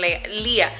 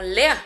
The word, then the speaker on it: Leah: No, como tan solo que yo les diga, se dice Lía y ya. Pero mira, hasta ahorita vengo a saber por qué todo mundo pronuncia el nombre de Lía como Lea. Porque le pusieron la H al final, según lo que ella me explicó.